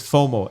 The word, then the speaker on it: FOMO: are married filmo yeah so it's just pronouncing is fomo f-o-m-o so people don't think